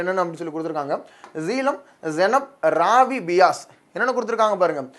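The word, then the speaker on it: செனாப்: சிந்து நதியுடைய மிகப்பெரிய துணையாறு என்னன்னு சொல்லி கேட்டாங்கன்னா அது ஜீனப் நதி தான். ஜெனாப்னு சொல்லுவாங்க. நிறைய இடத்துல பார்த்தீங்கன்னா இது எப்படி உச்சரிப்பு இருக்கும், ஜெனாப் அப்படின்னு சொல்லியிருக்கும். ஜெனாப் அப்படின்னு சொல்லியிருக்கும்.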